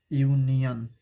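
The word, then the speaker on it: union: यूनियन, इसका pronunciation है यूनियन, यूनियन।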